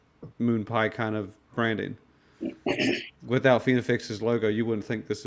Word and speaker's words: FinaFlex: The right way to pronounce it is FinaFlex because it actually refers to a steroid FinaFlex H, which is by it's a veterinary drug that they make Trenbolone out of.